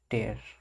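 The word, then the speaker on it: tear: जो दूसरा वर्ड है उसकी प्रोनाउंसिएशन स्पेलिंग तो सेम है, पर उसको प्रोनाउंस कैसे करते हैं, टेयर, मतलब लास्ट में एयर नहीं पढ़ते हैं, एयर पढ़ते हैं, AIR, टेयर।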